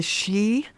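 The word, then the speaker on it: sidhe: um you know they go into what are they they also become known as the shei um it's spelled s i d or s i d h e you know given how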